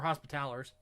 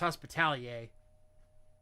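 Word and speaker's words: Hospitallers: The Hammers of Dorne are is basically a chapter of thick boys which I love and then the hospital or hospitalers it's supposed to be pronounced hospitalier.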